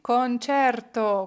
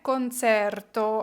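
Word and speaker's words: concerto: підказує легенько правильно відповідь кончер То кончерто увага не концерту А ми вже з вами знаємо що коли ми бачимо ось це ч е читається як че добре не це і не те кончерту коли ми сидячи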